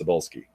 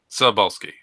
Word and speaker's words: Cebulski: shit like that, but his last name is pronounced Cebulski. Cebulski.